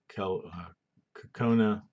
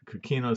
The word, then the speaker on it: coquina: limestone there we've got a quel cocona that's not how you pronounce it cochino coquina sandstone that was located right